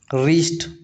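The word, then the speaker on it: wrist: रीस्ट वरिष्ठ नहीं पढ़ते इसको रिस्ट पढ़ते हैं।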